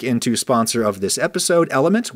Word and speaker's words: LMNT: sponsor of this episode, Element, which is spelled L-M-N-T.